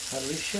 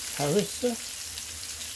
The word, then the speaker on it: harissa: I'm going to pop on a bit more seasoning of Parisha. I think it's called pronounced like that, I'm not too sure. It's pronounced Harissa.